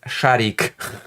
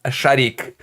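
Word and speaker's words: Шарик: Shahik pronounced Shahik. Why did I just do that? Shahik, pronounced a shik, little ball in Russian, a nickname in the vein of purball in Polish.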